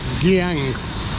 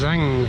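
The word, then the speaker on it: Giảng: the famous cafe Zang it's pronounced I thought it was gang but I have a student in my class with the same name and it's Zang apparently and that's the original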